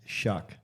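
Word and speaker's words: Shough: It's pronounced shuck.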